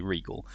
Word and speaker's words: Riegel: Riegel or Rigel? Regal? Can anyone confirm that? If you can type phonetically, Regal. Okay, Regal. As in king.